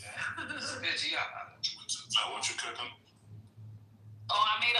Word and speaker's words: Reggiano: Reggiano. You gotta say it like that. You said it too properly, man. Reggiano.